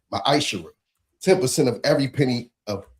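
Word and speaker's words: מעשר: The book of Malachi 3:8-10 means 10th in Hebrew and is pronounced misher 10% of every penny of any increase the lord gives you.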